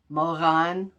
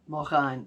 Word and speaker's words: Moran: granny stripe Shaw uh her name is spelled m o r a n but the r you say in the back of your throat I can't do that moan moan that's the best I can do so she designed the